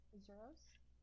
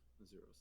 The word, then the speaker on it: Azuros: Zeros? Yes. Azuros. Azuros is the way you pronounce that.